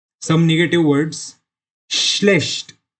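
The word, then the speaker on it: schlecht: श्लेष्ट, फिर से देख सकते हैं एस सी एच, श, श्लेष्ट। इधर सी एच आया, उसको भी श की तरह प्रोनाउंस करते हैं, श्लेष्ट। यानी not mostly but sometimes C एच is also pronounced as श, तो ये सम एक्सेप्शंस में आता है।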